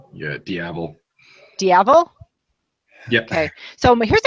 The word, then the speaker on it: Diavel: Yeah, Diavel.